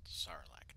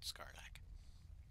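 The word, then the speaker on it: Sarlacc: was silence silence and it's pronounced sarlac not scarl anyway let's fight things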